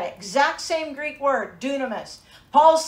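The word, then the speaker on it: δύναμις: Greek word behind this is spelled d-y-n-a-m-i-s it's pronounced dunamis growing up in the Assemblies of God I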